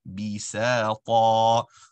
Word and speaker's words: بِسَاطًا: The same way you said the scene for 2 counts, bisa, the ta is also a basic stretch. You want to be consistent regarding that. Bisa ta.